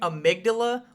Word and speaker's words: amygdala: of your brain and when I say amidala with the soft G I'm talking about the boss of the game so keep that in